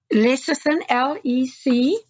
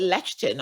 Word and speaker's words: lecithin: I used to call it lectin or something like that, I think. Oh, okay. Yeah, it's lecithin, yeah.